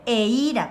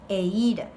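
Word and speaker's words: eíra: Y tengo dos dibujos, un frasquito de miel en guaraní se dice eira, con acento en la I, eira.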